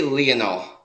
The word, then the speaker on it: Lionel: I say Lionel. Okay, I was calling him Lionel. It's Lionel.